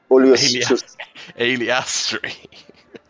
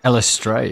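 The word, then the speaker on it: Eilistraee: That's definitely not how that's pronounced, Owen. Aliastri. Elistray, isn't it?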